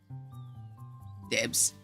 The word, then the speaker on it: dibs: Dibs. Okay, it's pronounced dib, like when you say I call dibs.